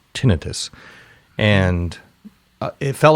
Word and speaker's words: tinnitus: It's called tinnitus, or as I've learned properly pronounced, tinnitus.